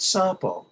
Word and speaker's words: sapo: are still all usable sapo sapo okay pronounced sappo okay sample no it means toad okay sapo says no